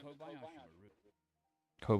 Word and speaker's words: Kobayashi Maru: Nicknamed the Kobayashi Maru. Kobayashi. That sounds right. Kobayashi. Nicknamed the Kobayashi Maru. Nicknamed the Kobayashi Maru. Kobayashi Maru. Nicknamed the Kobayashi Maru. So, according to the Pronounce website, that is right.